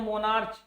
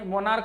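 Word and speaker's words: monarch: उसी तरह से हम मोनार्च, तो ये मोनार्क नहीं, मोनार्क होता है, मोनार्च नहीं होता है, ठीक है।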